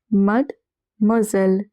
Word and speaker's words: Mademoiselle: Over here the S is in the middle of two vowels. So it is pronounced as Z. And E double L E is pronounced as L. Mademoiselle.